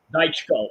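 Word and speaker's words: Dychko: All right, meanwhile, we still have the Jermaine Franklin and the, how do you pronounce his name again? Dhychko? Dhychko. Daichko.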